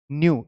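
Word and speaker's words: new: ये जो दो वर्ड है न्यू, इसकी दो प्रोनाउंसिएशन होती है, आप इसे नू भी कह सकते हो या न्यू आप इस तरीके से कह सकते हैं या आप इस तरीके से, दोनों इसकी प्रोनाउंसिएशन एक्सेप्टेबल है।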